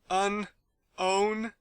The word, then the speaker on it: Unown: I'm sorry I'm sorry who the hell has looked at Unown yes and thought hm yes I'm going to pronounce his name as unowned no one I mean I thought mean is stupid and now we have unnown it's called Unown these pronunciations are killing